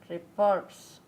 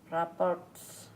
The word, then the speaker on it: rapport: Reports. Rapports.